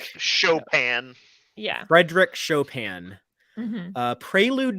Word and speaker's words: Chopin: it never it's like it's spelled like chopping so I never know how to say it but that's fair Chopin yeah Frederick Chopin uh